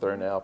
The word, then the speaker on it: Thurnau: He's also the Arthur Thurnau, is that the correct pronunciation? That is. Thurnau Professor of Environmental Policy.